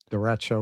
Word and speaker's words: derecho: Apparently you pronounce this a derecho. I looked it up because I had never Really? heard of this word. Yeah, that's what Google says. That's how you say it.